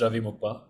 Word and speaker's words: Ravi Muppa: to starting sure um my name is Ravi mupa um you got the pronunciation almost right um I am a